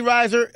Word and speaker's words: Risher: Nick Speed, K-Stone in the studio, Jenny Risher. Am I saying the name wrong?